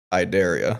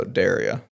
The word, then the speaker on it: Derya: But we actually, the easiest way to pronounce it is Derya. So Derya, like I dare you to, Derya.